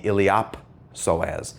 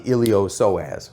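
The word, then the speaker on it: iliopsoas: Now the P is pronounced when it's in the middle of a word, it gets voiced, so it's called the iliop psoas. It's not the ilio-psoas.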